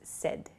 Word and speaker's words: said: S S is not correct so please use said it sounds like s d the pronunciation uh but it's said s a i